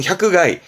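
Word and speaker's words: 百害: 발음은 샤크가이.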